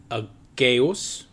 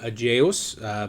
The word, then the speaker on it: Aegeus: The name Aegean comes to us from Aegeus, or Aegeus, depending on the Latin pronunciation.